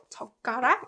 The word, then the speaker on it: 젓가락: 젓가락 is pronounced 젓가락, right? 젓가락. Because this ut gives more emphasis on 그, right?